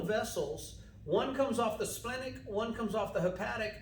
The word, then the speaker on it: splenic: the splenic artery and there's only one e in it it's pronounced splenic and again i'm not